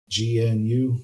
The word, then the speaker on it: GNU: GNU, pronounced GNU.